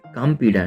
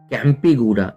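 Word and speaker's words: Kempegowda: तो ये कामपेडा नहीं, कामेगोटा या कैंपेगोडा इस तरह से हम उसको प्रोनाउंस कर सकते हैं।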